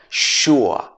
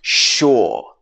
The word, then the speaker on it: sure: Sometimes this is pronounced sure. And sometimes it's pronounced sure. So this is a British English pronunciation. In American English, this would be sure at the end.